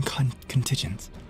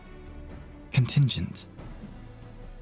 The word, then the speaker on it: contingent: conent what is it is it a hard G or a soft G conent contigent byby I contingent contingent so the G is like a just sound right contingent contingent so therefore